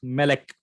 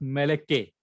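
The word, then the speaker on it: מֶלֶךְ: So if we pronounce Melek, Melek, not Meleke, Melek, that Shiva under the kaf sofit is always silent.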